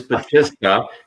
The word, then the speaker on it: Battista: I keep wanting to say it another way, but it is Battista, just like not.